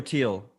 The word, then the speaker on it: Thiel: Is it Thiel or Teal? I go back and forth.